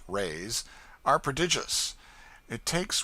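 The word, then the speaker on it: reis: the lady hails from the portuguese pennies or reys pronounced rays are prodigious it takes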